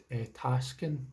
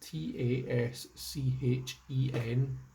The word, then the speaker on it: Taschen: By Tasken, I think it's pronounced Taschen.